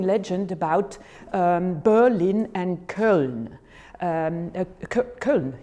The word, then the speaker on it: Köln: Köln, you pronounce it like that, yeah?